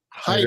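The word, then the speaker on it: Heiter: Hider.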